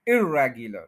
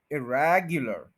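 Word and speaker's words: irregular: तो प्रॉब्लम क्या है कि हम इर के ऊपर स्ट्रेस कर देते हैं जब नेगेटिव बोलते हैं, इर्रेग ये गलत है, इर्रेगुलर ये गलत है, स्ट्रेस रेग पे ही रहेगा, इरेगुलर, देखे ना रैग के ऊपर स्ट्रेस है, इरेग और फिर वो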